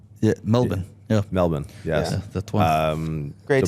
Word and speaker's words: Melbourne: we're here in this place that has an R but we don't pronounce it yeah melbin yeah melbour yes um